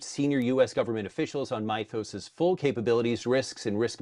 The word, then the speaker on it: Mythos: So basically if you have any kind of a program and by the way Mytho's is the Greek pronunciation and it's m y t h o s and it's a Greek word so Mytho's that's the way I I pronounce it.